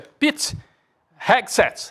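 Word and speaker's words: Pete Hegseth: O nome dele, Gabi, me ajuda aqui na pronúncia. É Pit Hexsets.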